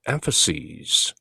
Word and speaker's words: emphases: 가르침 속에 two key emphases, 두 가지 주요한 키가 되는 주안점, 강조점이 두 가지가 있다는 것이죠. emphasis, 단수로는 emphasis, S-I-S 그렇게 발음하고 복수가 돼서 C's,가 되면 emphases, long vowel, 장모음으로 그렇게 발음하는 것이죠.